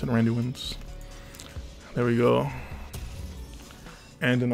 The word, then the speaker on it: Randuin's: That's how you pronounce it, Randuin's.